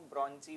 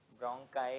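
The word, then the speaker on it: bronchi: जाएगी ये ब्रोंकाई में अब कुछ टीचर्स इसको ब्रोंजी प्रोनाउंस कर देते ब्रोंजिंग नहीं है। ब्रोंकाय है प्रोनंसिएशन। ठीक है?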